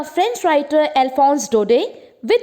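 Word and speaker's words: Alphonse Daudet: Actually France के 2 particular districts के बारे में पढ़ेंगे और ये लिखी है एक फ्रेंच राइटर ने जिनका नेम हम प्रोनाउंस करेंगे अकॉर्डिंग टू फ्रेंच, अल्फोंस डोडे.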